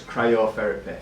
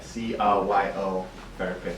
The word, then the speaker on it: cryotherapy: How would you pronounce it again? So it's cryotherapy, C-R-Y-O therapy, so cryotherapy.